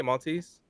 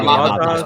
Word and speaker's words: Matas: How do you say Maltese? Matas Bazelis? Yeah, Matas.